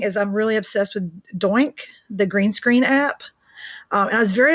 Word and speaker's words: Doink: In fact, I thought it was pronounced Doink. For me, it was pronounced Doink. I've heard Do Ink, so I've heard it pronounced as Do Ink as well. She corrected me. She said it's Doink.